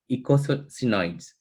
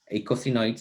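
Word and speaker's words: eicosanoids: medius is unknown and ecosynods sorry i cannot pronounce this name echocenoids is the correct name so general generally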